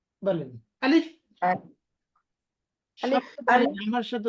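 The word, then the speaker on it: ب: লাম ফা জের আলিফ আলিফ এটা হলো আলিফের উচ্চারণ আলিফ জি বলেন আলিফ আলিফ আলিফ আমার সাথে উচ্চারণ করেন আলিফ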